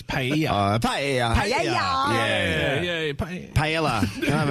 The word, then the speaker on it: paella: I get in trouble cuz I say pronunciation, not pronunciation. Irony. The other one is paella. It's pa paella. Can I have a pella?